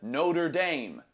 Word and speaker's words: Notre Dame: fly to Chicago because we're coming to the Notre Dame Stadium I was watching pronunciation videos CU you guys were telling me